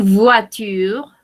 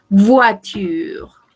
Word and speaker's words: voiture: Une voiture, une voiture. Rappelez-vous, la prononciation de ces deux lettres, c'est OUA. Voiture, voiture. Et on ne prononce pas le E final.